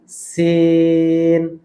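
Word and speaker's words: سين: দেন আসেন সিন। সিনের ক্ষেত্রে যেটা উচ্চারণ হয় এরকম একটা সাউন্ড হবে। সিনের শুরুটা এরকম হবে। হ্যাঁ, এটাকে সু সু শি শি এরকম করা যাবে না। সিন, ওকে, সিন, সিন।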